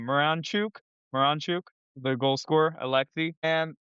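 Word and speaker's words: Miranchuk: Pronounce this name. Moranchuk. Moranchuk.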